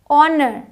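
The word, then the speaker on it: honour: no rain Sai य आते हैं एच साइलेंट है ऑनर ऑनर ऑनर पढ़ते हैं साइलेंट है और ऑनर की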